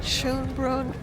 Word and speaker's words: Schönbrunn: We are at Schönbrunn Palace. I think that's the correct pronunciation here in Vienna, and we're so excited to be here.